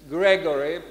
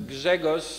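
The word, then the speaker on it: Grzegorz: and by the way you can pronounce my first name in english as gregory because gegos in polish is hard i realize that so gregory is the easy way to come and now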